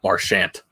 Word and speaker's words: Marchand: He pronounces it Brad Marchand, like the former player Todd Marchand. Marchand. It's Marchand.